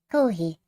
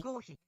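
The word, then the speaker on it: コーヒー: Kohi, or koshi, is Japanese pronunciation for coffee. Kohi.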